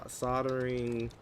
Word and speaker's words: soldering: The L is silent. Shut up. Who who comes up with that? Um s soldering kit English. Ridiculous. Oh, look at that. We got a soldering kit.